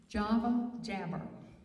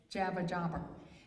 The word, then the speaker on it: Java Jabber: Java Jabber. I always say it backwards and say Jabba Jabber.